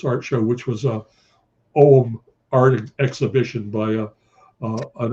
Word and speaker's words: Ogham: It looks like it's pronounced Ogham, O G H A M, but it's pronounced Ogham.